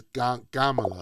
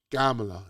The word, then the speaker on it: Kamala: how they say it they taught me how to say it in um Hindi you know they always put the G the G instead of the K it's gamala like Gandhi it's always you the G sounding right Gandhi gamla you know that's how they say it that's why